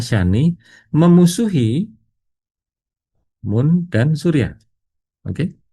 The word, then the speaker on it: Shani: Syani adalah Syani ini cara bacanya adalah Syani memusuhi Mun dan Surya.